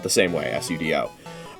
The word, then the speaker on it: sudo: Spelled the same way, S-U-D-O. It's actually an abbreviation, I believe, for super user do. So really, it should be pronounced sudo, the way that unenlightened people pronounce the word Sudoku.